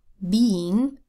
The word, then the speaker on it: being: in the word being there is no e I phonogram because you would pronounce the e and be the first syllable of the word and you'd pronounce the vowel sound for the eye and Eng separately get out a paper